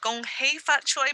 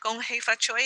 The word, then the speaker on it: Gong Hei Fat Choi: You might heard of Gong Hei Fat Choi before. That's okay. Gong Hei Fat Choi is just a Cantonese pronunciation of the same phrase of hoping you have a prosperous and joyous new year.